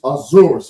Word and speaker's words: Ahasuerus: Now now, the the name is Ahasuerus, okay?